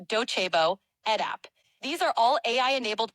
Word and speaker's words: Docebo: The platforms I mentioned are Coursera for Business, Dokubo, pronounced Docebo, EdApp.